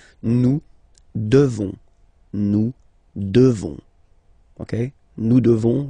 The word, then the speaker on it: devons: You just pronounce this on, O-N, this nasal, okay? And then the S, final S is not pronounced. Nous devons, nous devons, okay?